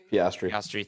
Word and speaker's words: Piastri: And especially with a lot of with Oscar Piastri, if I'm pronouncing it correctly. Someone help me here. Piastri.